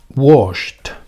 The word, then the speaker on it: washed: Sería washed, washed. Pasamos del verbo en infinitivo wash a su pasado washed. ¿Dónde iría? Pues aquí. ¿Vale? Es decir, ese verbo, su pronunciación sería con T, washed.